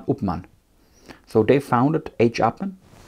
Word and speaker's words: Upmann: hermann and uh august so if you pronounce it in english it's hermann august appen in german hermann upman so they founded a